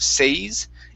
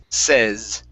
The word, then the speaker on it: says: is right here uh when you have the uh sa y that's going to be a a a short e sound instead of says it's says okay all right very nice